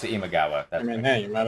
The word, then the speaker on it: Imagawa: a very important faction I don't know if I pronounced her name right no it's imagawa I mean he you